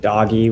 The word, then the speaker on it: Doge: saying it right uh yeah doji doge some people pronounce it doggy which i'm okay with i mean the